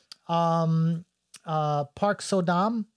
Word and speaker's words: Park So-dam: Park So-dam, I believe that's how you say her name.